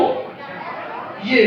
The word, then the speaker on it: W: এরকম এটা দেখাও সবাই ডবলিউ দেখাও আগে এটা উচ্চারণ বাংলাদেশের ভুল করে ডবলিউ ডবলিউ আগে বলো ডাবল ডাবল বলতো ডাবল ডাবল ইউ ইউ জুতো ডাবল ইউ ডাবল